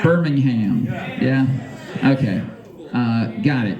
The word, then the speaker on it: Birmingham: correct here no no we're all about the ham Birmingham yeah okay uh got